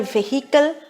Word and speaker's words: vehicle: v-e-h-i-c-le which means automobiles is neither vehicle nor vehicle it is vehicle and the pronunciation sorry